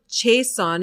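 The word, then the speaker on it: Jaisohn: So there was a man named Philip Jason and Jace or Jason maybe but it's spelled j a i s o h n.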